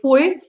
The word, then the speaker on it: foi: oi again it's uh i together is oi so okay and i've